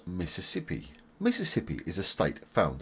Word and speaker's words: Mississippi: Louisiana and Tennessee and you pronounce Mississippi like this Miss is sip e Mississippi subscribe for more videos